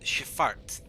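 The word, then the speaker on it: Schifffahrt: travel by boat in an archaic sense is shifart oh dear but it's spelled s-c-h-i-f-f-f-a-h-r-t that's very fun it's not grammatically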